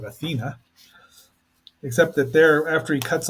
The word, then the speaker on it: Athena: I mean, the movie's pretty true to it, except that they pronounce it Athene instead of Athena.